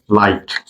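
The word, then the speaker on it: light: এইচ তে আই জি আই জি এইচ তে জি এর উচ্চারণ হয় না আই জি এইচ তে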